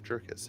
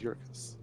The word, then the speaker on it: Jerkus: been corrected in chat it is a y not a j for the pronunciation of jerkus it is yorkis there we go learning